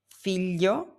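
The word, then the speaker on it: figlio: You have the three letters g l i. This sounds like le in millions. It's a softer than a plain l. You have words like filio which means son, fio, and alio which means garlic.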